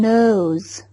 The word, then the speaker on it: knows: No هنا كي جاءت صامتة. No. No. لا نقول ك. إنها ثقيلة. نطق كي في هذه الكلمة ثقيل. نقول كنو ليست جميلة بتاتا.